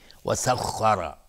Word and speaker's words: وسخر: وسخر خا از حروف استعلاس غلیظ تلفظ میشه، سخ دهان پر میشه، خ وسخر، و را هم حکم استعلا داره چون فتحه داره.